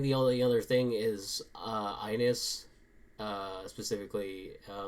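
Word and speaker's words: iNiS: So I think the only other thing is Ines, specifically. It's spelled like lowercase I, capital N, lowercase I,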